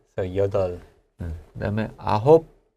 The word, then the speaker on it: 여덟: Yeah, we don't really pronounce 여덟, 네. right? So 여덟.